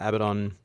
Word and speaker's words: Abaddon: post simply because uh abaddon or baden depending on how you say it i destroyed that entire